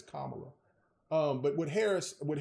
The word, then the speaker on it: Kamala: say her name properly they say Kamala but it's Kamala um but with Harris